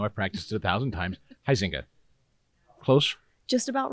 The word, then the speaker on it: Huizenga: name even though I've practiced it 1,000 times, Huizenga. Close? Just about right. Almost right. Just You about say it right. so it's right, please. Huizenga.